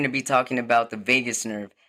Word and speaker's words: vagus: the doctor about the Vegas nerve and she said I love Vegas and I was like no Mom it's spelled differently but but it sounds the same so welcome to my